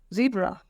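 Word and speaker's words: zèbre: अब देखिए इंग्लिश में जेड को बोलते हैं जी, बट in French is pronunciation is जेड एंड the word is ज़ीब्रा, ज़ीब्रा।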